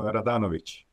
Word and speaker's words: Radanovic: name yeah sure of course uh it's radanovic um which I won't press you to you